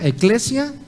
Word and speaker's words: Ekklesia: Repito, he titulado el mensaje de hoy Eclesia, y la palabra se escribe E-K-K-L-E-S-I-A, Eclesia, relaciones intencionales.